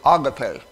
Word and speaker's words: agape: It's pronounced Habakkuk, and just like many people like to throw around the word agape, they call it agape love. Well, it's agape is the correct pronunciation.